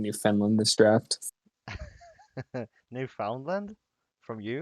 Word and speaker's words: Newfoundland: I am pretty sure it's pronounced Newfoundland. That's the worst part, but everybody won't leave me alone about it.